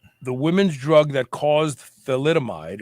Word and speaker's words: thalidomide: drug that caused thalidomide it's actually a th it's i i'm almost positive it's not p it's th let's see here let's see t h a l mine so it's spelled t h a l i d o m i e and that is the drug it's called thalidomide uh was for morning